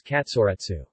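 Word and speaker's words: カツレツ: the fashionable Ginza district of Tokyo the Japanese pronunciation of cutlet is Katsura Tzu in Japanese cuisine Katsura - or shorter katsu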